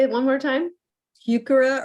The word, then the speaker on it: Heuchera: Heuchera or Heuchera, if you want to use the German pronunciation, maxima, island alum root.